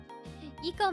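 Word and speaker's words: ICO: Eco makes sense because that's how you pronounce it in Japanese. Yeah, it makes sense. I just always heard it pronounced as Aiko.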